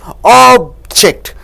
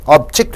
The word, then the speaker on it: object: So when you stress on ob, it means object. See, O and E to give two syllable sounds. Object, a thing. Object means a thing. This object is good. When you stress on ject, it becomes verb. Object, it means oppose.